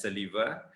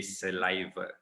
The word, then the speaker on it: saliva: not saliva all right i've heard people pronouncing it as saliva but it's actually saliva right saliva and then